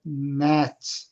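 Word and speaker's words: gnat: They strain at mat 이게 gna는 발음을 g쥐는 안 해요.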